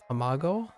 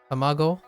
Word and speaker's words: tamago: uh m tomago t tamago tamago oh I've been saying it wrong I've been saying Tam